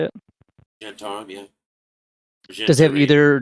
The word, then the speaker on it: Zhentarim: the uh I'm going to I'm going to mispronounce it. The Zhentarim is that or Zhentarim is that how I say it? Zhentarim, yeah.